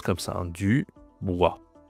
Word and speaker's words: Dubois: Donc on a Dubois, donc ça se prononce comme ça, hein, Dubois. Pareil, OI, c'est OI, ok?